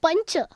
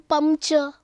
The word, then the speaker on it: pancha: So how will you write pancha? Pancha. Why? You are pronouncing ya between. You are not saying pamcha.